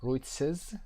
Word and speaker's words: Ruiz: مسئولین ماراتون عنوان رویتسز به این شکل تلفظ میشه، عنوانش رو take away کردن، ازش گرفتن.